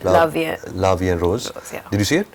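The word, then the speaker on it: La Vie en Rose: I just saw La Vivienne and Rose. How do you pronounce that? La Vie and Rose.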